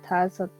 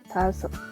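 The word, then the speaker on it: 다섯: y se le dice Tasot. Romanizado se puede poner como Dasot, ¿sí? Tasot. Pero esta D tiende a sonar como una T. Tazot. ¿Listo? Entonces puede sonar como tazot.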